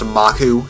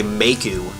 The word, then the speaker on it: Maku: guess it is pronounced maku if you're going by the original like or the more authentic Japanese pronunciation but when I was a kid I always wanted to say maku you know like Maple